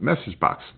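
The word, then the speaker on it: MsgBox: And it's pronounced message box.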